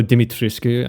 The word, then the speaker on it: Dimitrescu: Also, you know how Lady Dimitrescu, or Dimitrescu, I guess, because that's how it's supposed to be pronounced, was kind of the main selling point of the game when it first came out?